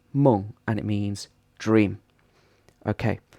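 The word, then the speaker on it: 梦: It's pronounced meng, and it means dream.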